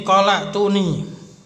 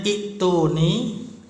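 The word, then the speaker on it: ائتوني: Itu kalau disambungkan bacanya qala tuni. Kalau diputus misalkan qol, nah terus mulai mengucapkan sendiri, apa itu bacanya? Ya, bacanya aslinya ituni ya. Tapi karena ada i'lal kan, kita belajar i'lal juga menjadi ituni.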